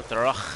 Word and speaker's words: thorough: O-U-H is silent. Why? The G-H, the O-U-G-H, like the U-G-H is silent. Like, wow. Really? It's like half the word. Why is half the word silent?